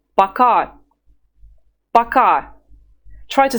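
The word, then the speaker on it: пока: well they're friends of yours you would say baka baka try to say it several times at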